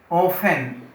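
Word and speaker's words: often: अक्सर माने प्रायः या ऑफन, टी साइलेंट होगा।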